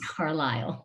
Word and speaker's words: Carlisle: that even though it's spelled like carlisle it's pronounced carlisle yes yeah very tricky and it is small